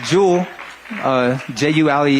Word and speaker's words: Jules: Once again, my name is Jules, Jules. The S is silent.